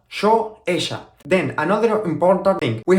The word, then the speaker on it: ella: First of all, remember that we pronounce the letter Y and the letter double L as sh sound, okay? Yo, ella, yo, ella.